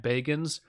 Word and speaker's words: Bagans: Zach Baggins, like Bilbo Baggins. It's spelled Bagans. And I think he actually pronounces it Zach Bagans, but no one on the planet says anything other than Zach Baggins, because that just adds to the hilarity.